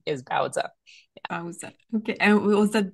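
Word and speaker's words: Baozi: is her name and you'll notice I call her both Bowa and bowy um so it's actually bowza the proper pronunciation for some reason uh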